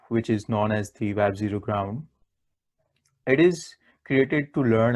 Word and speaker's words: WebZground: with web z ground where z stands for the zero so it can be pronounced as the web zero ground we will come to